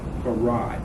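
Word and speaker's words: Farrad: in the 30s and spelling his name f-a-r-r-a-d the same way it's pronounced for rod f-a-r-r-a-d and even as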